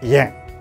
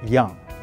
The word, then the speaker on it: Yang: And a lot of people just pronounce Yang, Yang. And the Chinese people will pronounce Yang, Yang. Is closer to the word young and old. So I always joke with my friends, hey, I'm always young. I'll never get old.